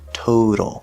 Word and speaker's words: total: But then in the middle, we have the letter T at the start of an unstressed syllable, so it's going to be a flapped D sound, total.